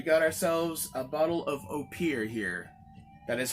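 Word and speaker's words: Opihr: Middle Tennessee we got ourselves a bottle of opere here that is how it's pronounced by the way also they do use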